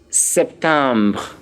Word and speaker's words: septembre: The next thing is septembre. Septembre. Septembre. Of course, septembre is spelled S-E-P-T-E-M-B-R-E.